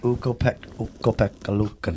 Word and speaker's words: Ukko-Pekka Luukkonen: Ukko-Pekka Luukkonen.